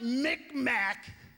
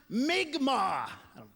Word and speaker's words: Mi'kmaq: She goes, "It's not Micmac. It's what white people call us. It's wrong. It's pronounced Mi'kmaq."